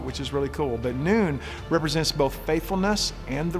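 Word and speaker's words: נון: 14th letter and you that's actually pronounced noon which is like the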